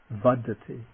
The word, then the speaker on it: vaḍḍheti: the aspirate following it for example growth would be to first the non-aspirate bud followed by the aspirate dirty buddhity then the nasal is